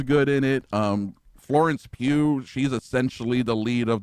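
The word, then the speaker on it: Pugh: Pew. Yeah. Just the way it's spelled or the sound of it. Yeah. Pulley Pullman and Pebb Li Pew. Pew.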